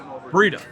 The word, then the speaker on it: Breda: Breda.